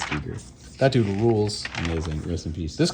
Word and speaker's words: Giger: Geiger. Oh yeah, Giger, sure. however you want to Geiger. pronounce I it. think it's Giger.